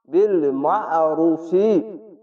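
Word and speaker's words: بالمعروف: পড়বেন এরকম ভাবে মা বিল মারুফি কেননা আইনটিকে আলিফের মত উচ্চারণ করবেন না অবশ্যই মোটা করে গলা চিপে পড়বেন এরকম ভাবেনা না অবশ্যই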